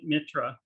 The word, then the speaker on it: Mitra: so the deities uh metra is that how you say mitra um well since it comes from mithra or mithras i've always pronounced it mitra but that's just me probably if you're speaking european it's mitra um intra and set are